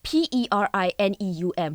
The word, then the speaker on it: perineum: And also there's something called the perineum. How would you pronounce that?